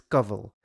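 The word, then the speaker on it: Kanwal: began living with him now her name is sandeela khanwal but the way you pronounce her last name is govel now upon the insistence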